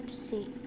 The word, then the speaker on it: psi: Simbol dari fase ini dibacanya psi.